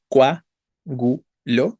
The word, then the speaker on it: coágulo: La palabra coágulo tiene cuatro sílabas, es una palabra esdrújula. No es coágulo, sino coágulo, ¿no?